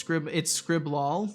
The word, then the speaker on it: Scriblil: Lil is pronounced like lol, but with an I. Gotcha. So it's Scriblol.